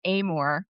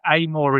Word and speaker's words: Amour: My family pronounces it Amor, which is the Amour. British Amour. version, right, as opposed to the French pronunciation. But when people say Amor, I let it go. You let Like, it go. So Amour. Amour is the proper pronunciation.